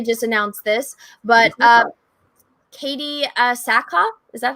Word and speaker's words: Sackhoff: And then also they just announced this, but Katie Sackhoff, is that how you say it? Sackhoff, yep.